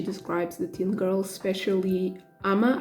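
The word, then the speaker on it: Amma: But yeah, I still cringe a lot when she describes the teen girl, especially Ama. I think that's how you say her name, Ama, like her half-sister.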